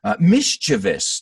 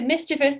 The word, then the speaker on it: mischievous: are mellow as well mischievous do you pronounce this like me suzanne i do mischievous but when i was a kid i would say mischievous i've heard people say mischievous as well so that's why it's